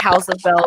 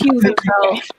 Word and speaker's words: Hues of Bell: I think I said it wrong on Sunday. I call it House of Bell, but it's Hues of Bell.